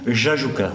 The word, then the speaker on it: Jajouka: Il a sorti un bouquin qui s'appelle Le Retour à Jajouka, on prononce comme ça, Gaston? Jajouka.